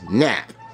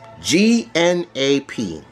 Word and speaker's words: gnap: You know, it's like the word gnome. It's a silent G.